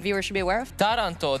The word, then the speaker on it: Taranto: Taranto, the city in Italy, stresses on the first syllable.